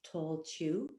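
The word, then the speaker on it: Tailtiu: is his foster mother and her name was tall chew it's spelt like t-a-i-l-t-u but it's pronounced too and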